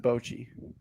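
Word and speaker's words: bocce: Yeah, you got to pronounce it Bochi.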